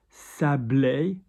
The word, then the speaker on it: sablé: Sable, sand. Sablé, sanded, sand-coloured. Okay, so often people go, oh, I know that word, sable, like sable in English. Sable, sablé. D'or, doré, I think we're almost there.